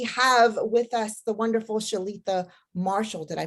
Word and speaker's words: Shaletha: welcome tonight we have with us the wonderful shalitha Marshall did I pronounce that correctly yes yes you did wonderful